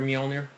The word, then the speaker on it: Mjolnir: let you go ahead and pronounce that. The rare Mjolnir, Thor's hammer.